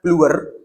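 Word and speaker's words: Bleuler: Nah, schizofrenia itu pertama kali dicetuskan oleh seorang psikiatris dari Switzerland namanya Bluer. Bluer gini bacanya ya.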